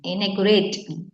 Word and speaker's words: inaugurate: dikkan in pasif ya inaugurated inaugurate bacanya bukan inaugurated ya tapi d-nya itu menekan inaugurate ya in iya nomor